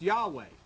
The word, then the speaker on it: Yahweh: And so this, then through tradition, this YHWH started to be pronounced Yahweh. And that's how the word Yahweh came. God didn't make that up.